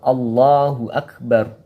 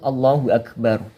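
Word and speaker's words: الله أكبر: Yang kedua masih lafal Allahu Akbar. Untuk huruf H yang berharokat dhammah yang berbunyi Hu Akbar.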